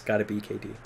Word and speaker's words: Gotta Be KD: Just for the sake of Gotta Be KD, that is how you say it. It's not a. It's the name is Gotta Be KD.